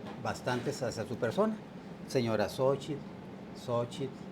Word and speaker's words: Xóchitl: Señora X, Xochitl. Xochitl. Xochitl. Xochitl. Como decimos en Chihuahua, sería Xochitl. Xochitl. ¿Sí? La pronunciación en náhuatl sería Xochitl.